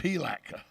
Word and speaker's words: Palatka: i i will say plaque is probably one of the only cities in america they're happy when it rains because uh it dampens the smell okay and and say it right sir it's pilaka yeah well i again